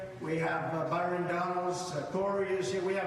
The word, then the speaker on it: Donalds: Oh, it is Donalds.